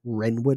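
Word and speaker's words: Wrenwood: And it's actually Renwood Hotel and it's spelled like the Bird Ren. So W R E N. Renwood Hotel.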